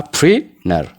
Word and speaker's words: printer: Fakkeenyaaf n jennee tii sana silent goone yookaan akka hin jirretti fudhanna. Akkasitti dubbisa jechuudha faranjoonni. Printer. Na waliin jedha. Printer. Printer. Printer. Printer. Printer jedhanii pronounce godhu jechoota tiin yeroo n booda dhuftu garaagaraa akkamitti dubbisna jechuudha. Akka kanaatti tii silent goone dubbisna.